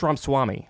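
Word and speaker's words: Ramaswamy: pronounce his last name I think it's ramswami Ram Swami Vivek Ram Swami he wrote woke ink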